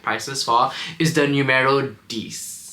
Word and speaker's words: Dix: for is the numero D am I pronouncing that right it's like Dix um so this one